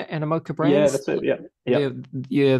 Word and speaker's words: Animoca: Animoca, is that how you say it? Animoca Brands.